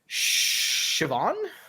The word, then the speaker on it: Siobhan: make it up cool her name is shivan okay um but it's spelled s-i-o-b-a-n of course of course because the proper name the proper way uh travel man indeed